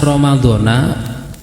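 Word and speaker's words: رَمَضَانَ: Sanata parutan lillahi taala apabila bacanya Romadhona Nun difathah maka terus hanya lafadz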